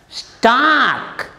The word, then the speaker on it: stalk: We write L, but we don't pronounce it. Talk, T-A-L-K. L is there, but it's silent. Stalk, S-T-A-L-K.